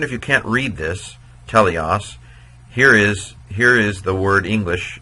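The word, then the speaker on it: τέλειος: Well, we know that so even if you can't read this, teleos, here is the word English, in English, perfect.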